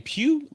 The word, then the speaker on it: Pugh: Well, Florence, if you, how do you pronounce her name? Pugh, Florence Pugh.